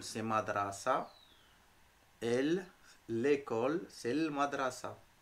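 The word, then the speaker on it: مدرسة: comment on dit l'école madrasa école c'est madrasa elle l'école c'est madrasa madrasa très bien on n'oublie pas de rouler le r un élève tilmide tilmide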